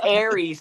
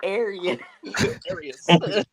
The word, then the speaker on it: Aras: say his name Tom it's Aries not ar ar he's got the Razor